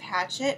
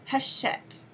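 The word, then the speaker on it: Hachette: published by poppy which is an imprint of hatchet or haset I was schooled in how to pronounce that publisher it's haset so there you go um anyway it's called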